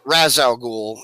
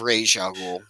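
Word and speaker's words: Ra's al Ghul: of y'all's chat because i use the movie pronunciation and not the canon pronunciation pronunciation for rachel no raz al ghul instead of rage algol yeah i know yeah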